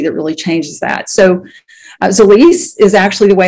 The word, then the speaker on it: Zilis: So Zilis is actually the way it's pronounced.